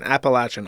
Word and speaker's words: Appalachian: Also, Appalachian should pronounce with a latch and not a leash as someone from there." Okay, fine. Appalachin.